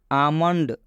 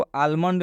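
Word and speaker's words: almond: आमंड, हम इसको आलमंड नहीं पढ़ेंगे, आमंड पढ़ेंगे।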